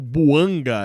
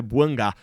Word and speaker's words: Bouanga: Tô mudando um pouquinho a pronúncia aqui porque descobri que eh pelo nome dele ser francês, né? Normalmente o francês tem esse final e o Buanga era uma coisa muito americanizada, né? Então a forma correta de chamar o nome do cara é Buangá.